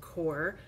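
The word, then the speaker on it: QoR: I have this Core watercolor, which it's spelled Q-O-R, but I guess it's pronounced Core.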